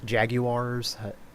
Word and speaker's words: jaguar: about jaguars and uh jaguars i try to i try to make myself say it like that so that i don't say wire like people do i try to say